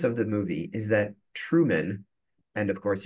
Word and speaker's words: Truman: The premise of the movie is that Truman, and of course you can hear how it sounds like the word true man.